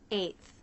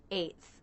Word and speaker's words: eighth: Eighth. This one's pretty simple. The A diphthong and the unvoiced TH. Eighth.